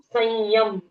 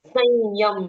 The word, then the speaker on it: संयम: जैसे अगर हम संयम ऐसा शब्द कहते हैं, हम्म। संयम, तो स के ऊपर जो अनुस्वार है वो यई बन जाता है।